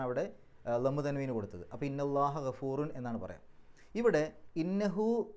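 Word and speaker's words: إِنَّ اللَّهَ: ഇന്നല്ലാഹു എന്ന് പറയില്ല, ഇന്നല്ലാഹ എന്നാ പറയുക. നെസ്ബിൻ്റെ അടയാളമായിട്ടാണ് അവിടെ ഫത്ത് കൊടുക്കുന്നത്, ഇന്നല്ലാഹ. ഗഫൂറുൻ അത് ഖബറാണ്, ഇന്നയുടെ ഖബറാണ്. ഇന്നയുടെ ഖബറിന് എപ്പോഴും റഫ് ആയിരിക്കും, റഫിൻ്റെ അടയാളമായിട്ടാണ് അവിടെ ലമ്മു തൻവീന് കൊടുത്തത്. അപ്പോൾ ഇന്നല്ലാഹ ഗഫൂറുൻ എന്നാണ് പറയാം.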